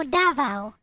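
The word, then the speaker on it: Davao: it Manila first no davo it's called DAV D DAV yep that is the correct pronunciation you have to uh put the stress on the first syllable davo so uh when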